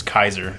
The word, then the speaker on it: Caesar: Vegas it's not pronounced Caesar it's Kaiser I because in if you are going with old school Latin the C is a hard which I knew the